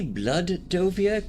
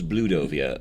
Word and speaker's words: Bloodovia: Now, did he say Blood-dovia? Because I could have sworn it was Blue-dovia earlier. There's different ways to pronounce it.